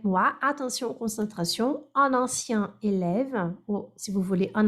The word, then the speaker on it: élève: Donc, un ancien élève qui a été élevé. Antigo aluno. Explicação. Que foi aluno, qui a été élève. Pardon, qui a été élève, não é para ter élevé, a louca.